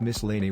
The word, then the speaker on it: miscellany: The Miscellany was an interesting publication, pronounce miscellany with the accent on mis.